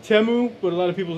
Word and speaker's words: Temu: video is brought to you by temu or teu actually pronounced temu but a lot of people just say timu cuz I think that first commercial said teu